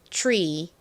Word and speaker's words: tree: 발음과 더 유사합니다 자 요거 배운 김에 한번 발음해 볼까요 나무 Tree Tree 좋습니다 다시 지난번 퀴즈로 내 드렸던이 컨트롤로